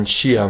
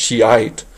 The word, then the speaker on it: Shia: are Sunni Muslims and Shia Muslims now the Shia or sometimes pronounced Shiite literally means the party or